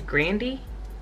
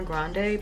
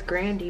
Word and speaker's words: Grande: obsessed bravo ariana bravo did you know her last name's grandy did y'all know that people just started calling her grande because i guess they could they didn't know how to pronounce that's you know the spelling or whatever but i was watching this interview and her last name was grandi but she you know